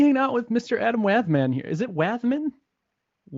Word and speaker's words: Wathan: The M is like anti-silent. You know, it's like pronounced but not written. Right. It's the opposite. I first called you Wathan, I think.